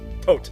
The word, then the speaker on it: Tote: So, sort of like that, but not Todd. It's Tote, like a tote bag.